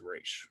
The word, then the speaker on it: Ra's: And then Bruce was like, "It's Raish," like that's a common Right. Like, and they mispronunciation.